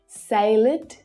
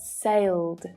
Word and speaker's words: sailed: error it's not allowed but allowed it's not salid but sailed waved rained rubbed loved gazed judged okay so